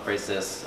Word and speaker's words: Ephesus: I had gone to Rome last year to turn 50, and there were these coming, there's all over these Diana of Ephesus, that's how you say it, sculptures, a fertility symbol, these women that are kind of multiple breasts.